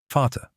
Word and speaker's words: Vater: The letter V sounds like an English F. Vater, father.